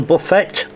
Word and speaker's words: buffet: So that's the buffet. I know it's buffet, I know. Don't start sending me messages saying it, don't say it like that, I know.